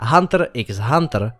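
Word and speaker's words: Hunter × Hunter: Ano, vyslovuje se to bez X. Ten, kdo říká Hunter x Hunter, si nezaslouží žít.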